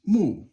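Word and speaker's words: 目: And then this is mu, which is 4th tone right here.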